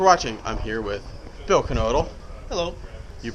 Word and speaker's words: Knodle: I'm here with Bill Knodle. Hello. You pronounce the K, huh, Bill? Pronounce the K, like Knievel. Okay, there you go. All right, so here with Bill Knodle, and we're talking about, you have this really cool drill.